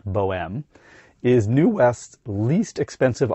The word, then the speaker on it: Bohème: The BO-M (which is short for Bohemian which in French is pronounced Bohème) is New West's least expensive offering starting at $59k Canadian dollars or just $44k USD.